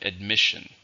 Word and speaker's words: admission: How many syllables are in admission? There are 2, stresses on second.